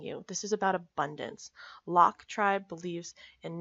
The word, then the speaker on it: LOC: out that balance now Locke is pronounced Locke because you're locking your future in place with this habit I very much connect